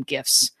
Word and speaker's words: GIF: I'm calling them GIFs. Hard G for me.